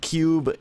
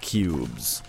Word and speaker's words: Qube: Sony for the ps1 it's called intelligent cube cube spelled with a Q so it's like IQ because it's a puzzle game and it takes place